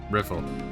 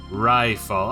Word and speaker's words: Riffle: Riffle. Hey, you private second class. My name is pronounced rifall. Oh, wow.